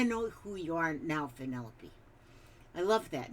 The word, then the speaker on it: Penelope: I was saying Penelope, and then somebody told me that's Penelope, and she phonetically put it out there. So I won't call you Penelope. That sounds too much like an antelope.